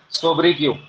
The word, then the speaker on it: sobriquet: Spelling लिख रहा हूँ बोर्ड पे, SOBRIQUET, सोब्रिक्यू।